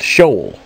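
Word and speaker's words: Sheol: H 7585 SE e o l from 7592 pronounced shol which is Hades or the world of the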